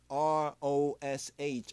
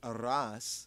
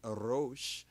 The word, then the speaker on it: Rosh: And Rosh, R-O-S-H, Rosh, as in Rosh Hashanah. We say Aras, but their pronunciation say Arosh. Some say Arais, but they say Arosh.